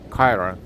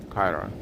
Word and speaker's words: Kyra: So Kira or Kyra? I think Kira. It's funny how different words can be pronounced differently depending on how they're supposed to be pronounced. So if I mispronounce someone's name, I do apologize. Kyra, right? Kyra. Thank you.